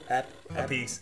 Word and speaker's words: Appice: Appice.